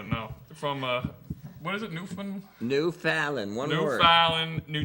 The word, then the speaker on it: Newfoundland: Newfoundland, not Newfoundland. Where do you think you are? I found in New Jersey. Just say it like quick.